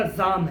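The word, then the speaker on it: زعم: رفاقت پہ زام ہے۔ یہ عام طور پر اس لفظ کو لوگ زوم بولتے ہیں، تو صحیح تلفظ اس کا زام ہے۔ کس کس کو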